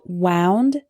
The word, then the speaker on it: wound: my finger wind wind and finally we have wound and wound wound is the past tense of